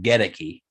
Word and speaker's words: Goedeke: interesting to see something to watch in camp godeki and a guy like aaron stinney going at it for that guard spot yeah so obviously um just just a note he says it's pronounced gedecky um i we me and james were calling